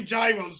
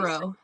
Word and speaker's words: gyro: Is it gyro or euro? It's 100% euro.